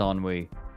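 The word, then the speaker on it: ennui: listing and yes it to my knowledge it is pronounced on we on wee wee it it means like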